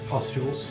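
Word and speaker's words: pustules: P U S T U L E S Postules.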